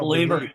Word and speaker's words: Bleav: That's how you spell Believer, guys. Yeah, I'm so confused. BLEAV. That's how you spell it. That's right. You got to believe. It's leave, like you're leaving.